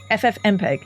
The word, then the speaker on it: FFmpeg: FFmpeg.